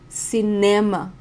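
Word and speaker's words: cinema: the movies by myself notice the word cem the stronger syllable is NE cema also notice that I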